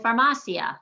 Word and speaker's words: farmacia: second to last exciencia same thing with farmacia the i and the a stay together they're one sound farmacia or macia thing